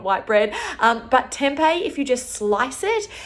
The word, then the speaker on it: tempeh: I also find that for the vegans out there, tempeh, which is spelled T-E-M-P-E-H, and you can get it at any shopping center or health food store.